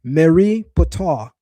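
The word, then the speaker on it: Merneptah: The name of the pharaoh is in Medonetra pronounced Marie Patar which means the beloved of Patar.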